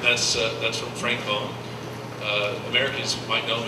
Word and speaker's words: Boon: uh that's from Frank bone uh Americans might know him as Frank Boone that's not really right two o's in Flemish it's pronounced O So Frank bone so now you know